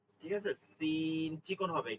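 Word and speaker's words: س: খেয়াল করতে হবে এটা মূল উচ্চারণটা হচ্ছে স আমরা যখন বাংলায় বলি শশুর শশুর সশা সশি স এই উচ্চারণটা এখানে নিয়ে আসতে হবে এরপরে ধানের শীষ শীষ উচ্চারণটা কি বলি শীষ শীষ এটার মধ্যে সিনের কিছু থাকবে না।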